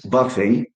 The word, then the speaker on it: buffet: Another uh French word is buffet. Two two syllables are stressed. Buffet. ble and if you know in French sometimes or even frequently letter T is not pronounced so they don't say